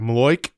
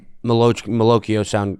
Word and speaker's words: malocchio: It's the malocchio. It's like the curse, right? A Maloik? Yep. Malocchio sounded right to me. It's malocchio.